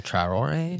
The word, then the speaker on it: Traoré: And that's like this new guy, Ibrahim Touré, however you pronounce his name. Yeah, Traoré. Traoré.